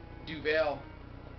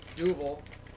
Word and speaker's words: Duvel: Duvel, or the Belgians pronounce it Duvel, but there's two pronunciations of it, and most people call it Duvel.